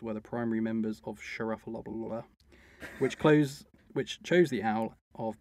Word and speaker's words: Schlaraffia: The Bohemians possibly chose their emblem based on a secret society called Schlaraffia? That's the pronunciation. Can you pronounce that? So it's S-C-H-L-A-R-A-F-F-I-A. Schlaraffia?